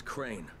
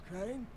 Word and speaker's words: Crane: no my name is crane crane crane rhymes with train and praying and sign and Grain and rain and plane and the other kind